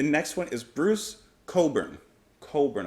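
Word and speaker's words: Cockburn: one is bruce coburn coburn i think i mispronounced his name before with humans now we've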